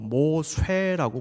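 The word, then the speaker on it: מֹשֶׁה: 히브리인들은 모세스라는 이집트식 이름을 히브리식 발음으로 바꾸어 모쇠라고 불렀던 것입니다.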